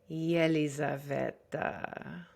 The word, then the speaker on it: Yelizaveta: I am your host, Yelizaveta. Yeah, if you ever are confused about how to pronounce my name, here's what my boyfriend came up with. You say yellow, yelly, Yelizaveta.